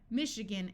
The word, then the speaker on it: Michigan: a type of fabric Michigan note that this a schwas Michigan is a state in